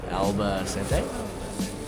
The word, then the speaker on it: Albacete: So, yesterday we ended up getting to Alba Cente. Apparently, that's how you actually pronounce the town.